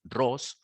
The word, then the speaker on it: Rus: que se hacían llamar rus la pronunciación en general es escribe rus pero la pronunciación es ross o sea un grupo de